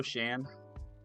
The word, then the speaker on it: Sean: Hello Sean, how are you? Or I guess it should say hello Shan. Your your name is not really spelled like Shawn. It's more spelled like Shan.